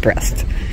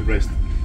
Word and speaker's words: Brest: Mary said there's no A in there. It's not pronounced breast. But we'll see. Named after the famous bicycle race from Paris to Brest.